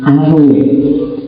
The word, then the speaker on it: Arouet: Nama aslinya François Marie Arouet. Bacanya gitu, makanya kamu bahasa Perancis dikit-dikit atau ya, yo, kamu ingat kita cari ucapan tunggu di dalam ya, François Marie Arouet namanya.